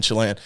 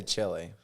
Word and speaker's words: Chile: said cool cool cool I say Chile Chile so John get John gets really upset at me from America John gets so upset American accent what do you well you don't say the American accent you say Chile yeah it just sounds weird if you say Chile